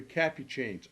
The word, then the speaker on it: Capucine: for today's breed profile I have with me capucines Old Dutch capucines been some argument that the pronunciation is Capuchin or Whatever It Is Well